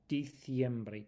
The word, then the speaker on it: diciembre: And the th sound on the c as well. So, diciembre, diciembre, diciembre.